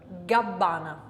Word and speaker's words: Gabbana: Gabbana. So we've got plosive G, G, and we've also got a lovely double plosive B, all voiced, gabbana.